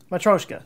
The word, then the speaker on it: Matryoshka: Let's see how they say it online here. Matryoshka. That's what I'm going with.